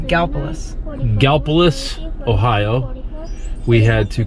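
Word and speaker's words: Gallipolis: spelled GA ll i pol is but it's pronounced Gallus Gallus ohio we had to come down here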